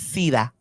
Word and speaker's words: SIDA: It's SIDA.